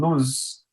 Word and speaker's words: lose: that's a common issue one of them sounds like an s and the other one sounds like a z so we call those